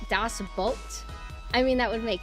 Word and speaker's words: Das Boot: It's pronounced like boat. Das boat.